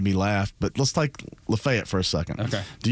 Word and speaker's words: LaFayette: I love the fact you said it right. Yeah. Yeah. Because a lot a lot of people you know that that are from metro Atlanta would say Lafayette growing up up there